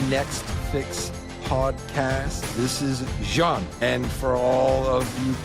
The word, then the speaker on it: Jeanne: This is Jeanne, and for all of you people in the United States as ignorant as me, it is not Jeanne, it is Jeanne.